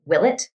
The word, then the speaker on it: Ouellette: Well, I mean, it's, when people who were, it's spelled Ouellette. So when people who had that surname left a French inflected region and went somewhere else, they became Willet, Oh, Willet.